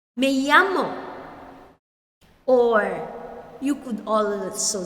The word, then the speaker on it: llamo: You say, me llamo. My name is. Then you mention your name. We say it again. Again, the double L there is pronounced as Y. Me llamo.